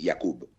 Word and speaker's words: Jakub: La J es como una I, entonces es Jakub.